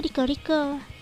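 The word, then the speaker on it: LycoReco: unit baru yang bernama Liko Reko. Nah, buat kalian yang enggak tahu, Liko Rico itu adalah sebuah kafe di Jepang. Dibacanya Rico Rico.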